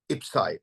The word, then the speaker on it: IPCEI: It is called IPSI or IP or IP. So it depends really on the country how this is pronounced.